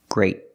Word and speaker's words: great: is the color gray I have to use a stop T great I stop the air I put my tongue up great gift it's a